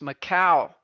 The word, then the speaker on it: Macau: Karen says it's pronounced Macau.